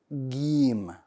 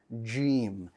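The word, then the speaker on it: جيم: the letter g in in some dialects of arabic this letter is pronounced as gem right sound like the english g like in the word game we don't want that proper arabic we want to pronounce it as jim like the j word the j letter that's in the word gem right so we want that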